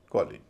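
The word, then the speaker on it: college: एल ई जी ई इसमें stress पहले हिस्से पे है क्यों क्योंकि ये नाउन है स्ट्रेस पहले हिस्से पे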